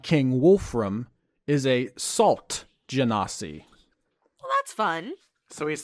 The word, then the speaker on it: Genasi: Genasi is how I've always pronounced it.